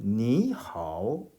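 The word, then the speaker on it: 你好: 선생님이 지금 발음을 그렇게 했습니다. 니 하오. 여기서도 님은 하오 하지 않고 님은 이 니라는 삼성을 니 하고 제대로 발음하지 않고 그냥 가볍게 니 정도로만 한 것을 이렇게 듣는 그런 좋은 귀를 가진 사람이 있으면 좋겠습니다.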